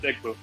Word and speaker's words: Igbo: So It's not Igbo. no, it's Igbo. No, it doesn't. It's Igbo. You pronounce the G.